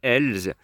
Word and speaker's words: Els: Et puis le 8 Els, ou Els, si vous prononcez le S à la fin, monté par Christophe Soumillon.